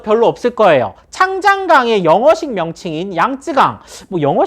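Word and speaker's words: 长江: 더 많이 할 텐데 중국 사람들이 이걸 장강이라고 합니다 장강 요걸 한자로 하면 이제 중국식 발음하면 창장이 된다고 하네요 그래서 이걸 창장강이라고 하는데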